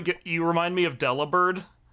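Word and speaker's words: Delibird: at a Santa penguin it's spelled Deli bird but it's supposed to be a pun on delivered uh oh hell yeah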